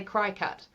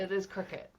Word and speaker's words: Cricut: Because when you see it, I want to say cry cut. but I know, yes. It is but it, pronounced cricket. it is cricket.